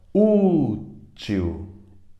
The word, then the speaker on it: útil: As paroxítonas têm a penúltima mais forte, ó. Útil, útil. A mais forte é o U, paroxítona.